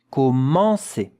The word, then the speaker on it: commencer: Here it's a nasal vowel. Yeah, nasal vowel. There is a bit of air when you pronounce it that has to come out of your nose.